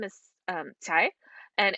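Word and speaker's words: Cai: and especially because juliet's last name is um tai and it's actually spelled c-a-i so i never would have pronounced it correctly even and i'm chinese i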